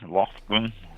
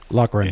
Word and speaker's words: Lochran: Lofgren? Lochran. Yeah. And I wrote it. Lochran, thank you. Yeah, I wrote the pronunciation like phonetically, and it's Lock.